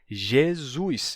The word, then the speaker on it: Jesus: o que que aconteceu o som de ye foi mudando ye ye G G né G até ficar g g e o s Inter vocálico se sonoriza Então você vai ter Jesus Jesus em vez de Jesus fica Jesus e dependendo do sotaque